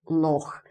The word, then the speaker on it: loch: like big lakes which are called loss so loch so oh i fell in the law and